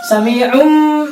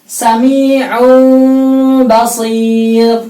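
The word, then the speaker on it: سميع بصير: Sami'um, bukan yang benar Sami'un basir, tidak rapat. Dalam riwayat ini sekali lagi saya katakan bahwasanya mimnya itu tidak asli, bukan mim asli. Kalau asli bibirnya rapat. Ini bukan mim asli. Jadi bibirnya hampir rapat tapi tidak rapat.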